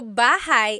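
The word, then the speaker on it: bahay: Shir said, I always make a mistake with bah and so bahigh is house. Buhai is your life.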